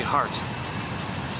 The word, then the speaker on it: Hart: his notes guy named Henry Hart um rhymes with art no e that one uh